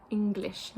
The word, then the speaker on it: English: should pronounce the G so for example in words like English or um a finger or single sometimes they will pronounce that as a um when you should actually be saying single finger English just because an NG sound in in German is always pronounced ah yes because Germans say